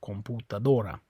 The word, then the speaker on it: computadora: Okay, it's on the O, computadora.